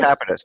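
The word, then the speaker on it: Grocapitus: So Neal is the founder as Grow Capitus. Is that how you say it? Grow Capitus? Grow Capitus, that's right.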